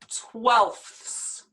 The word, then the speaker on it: twelfths: will get crazier but just listen to this pronunciation very difficult i agree with you five twelfths five twelfths i can say no more just